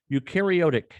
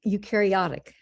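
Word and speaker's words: eukaryotic: Louis where she engaged in research on ukareotic. Did I pronounce that right? Ursula almost ukareotic. Ukarotic algae.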